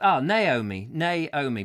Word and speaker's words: Naomi: It's pronounced, Naomi, brilliant.